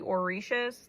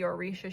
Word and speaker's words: orisha: If you're not familiar with the orishas, they're from the Yoruba faith. The orisha, it's spelled O R I S H A and